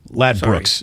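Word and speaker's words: Ladbrokes: lad Brookes lad Brook lad Brooks Brooks not Brooks oh EXC I did write it it's spelled broke but it's lad Brooks okay lad Brooks anyways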